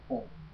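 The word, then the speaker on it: AUM: adquirirem aprendizados evoluções espiritual o verbo certo é a u m a pronúncia é bom a gente encontra muito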